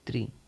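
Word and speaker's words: tre: Italian तीन को हम कहते हैं इटालियन में त्री त्र हिंदी में इसको कहेंगे तीन लेकिन इटालियन में हम इसको त्र कहेंगे त्र हिंदी में तीन कहेंगे लेकिन इटालियन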